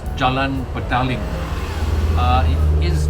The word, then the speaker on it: Jalan Petaling: and by the way the name of this place is in Malay and therefore the pronunciation is Jalan ping uh it is not pronounced as julan pading right Jalan ping is